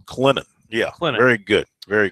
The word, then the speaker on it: Clinton: Clinton, just let it roll off your tongue. Clinton. It's like the word linen, but with a C in front of it. Correct. Clinton.